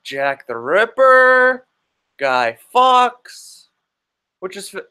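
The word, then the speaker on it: Fawkes: famous historical characters like Jack the Ripper guy Fox which is spelled F a w ke s not foxp2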